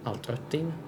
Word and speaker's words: Altötting: Also, when you have two dots over an O like that, it is pronounced Ö, so altötting.